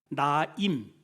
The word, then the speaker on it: 나임: 이 나인성의 그 나인이라는 뜻은 히브리어로 나임 이렇게, 우리는 이제 나인성이라고 하는데 나임이라는 발음을 해요.